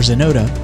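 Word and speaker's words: Xenota: Find more great music by searching Jesse Johnson or Zenota, spelled with an X, on YouTube and most major streaming platforms.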